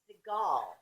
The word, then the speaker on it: Siegell: It's actually Siegell. Siegell? Yes, just like. What, did we turn French? No, it is. It's Siegell. It's actually like that actor, Steven Seagal. Yeah. That's the right way to say it.